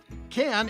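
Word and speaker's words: Cannes: just tell you know can is a city on the French Riviera known for the can film festival now can is spelled c a nnes but pronounced can without the S yeah confusing I know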